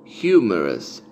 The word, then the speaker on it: humerus: Y que en inglés se pronuncia humerus, humerus, humerus. Que viene del latín humerus y nosotros en español le decimos húmero, con acento en la U, húmero.